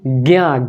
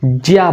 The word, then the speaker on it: ज्ञ: इसको हम लोग ज्ञा से ज्ञानी नहीं बोलते, ज्या बोलते हैं, ज्ञानी। उच्चारण की दृष्टि से ज्ञा बोलना गलत हो जाता है।